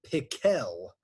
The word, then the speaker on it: Pickle: Actually, his name was Dr. Pickle, with the accent on the second syllable.